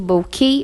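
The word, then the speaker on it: bokeh: word correctly because unlike in Japanese the word bookie in English would normally be pronounced as book like Coke and choke the hitch transforms the pronunciation into bouquet or bouquet bouquet has been defined as the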